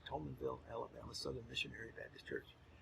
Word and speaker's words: Thomasville: a fundamentalist Bible fundamentalist she went to the Tollman Vil Alabama Southern missionary I see what was it she went to the Tollman valve Alabama Southern Missionary Baptist Church and you better say it right Thomasville Alabama southern Missionary Baptist Church and she went